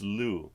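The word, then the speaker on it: Lugh: the morgan it is oh it would be lou okay or if you're gonna read it phonetically but this one i know i've been taught to pronounce him properly it's lou so um he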